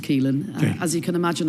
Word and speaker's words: Caoilfhionn: Caoilfhionn, yes. Okay. It's got rather a lot of letters, yes, but it's just pronounced Caoilfhionn.